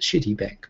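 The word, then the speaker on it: Citibank: shin and City Bank as I like to call it shitty bank by the Japanese pronunciation um obious cityy bank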